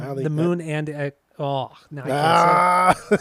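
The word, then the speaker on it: The Moon & Antarctica: I said It's not Antarctica. It's not Moon Antarctica. It's Moon and. That's what I said. I said I don't the think Moon and...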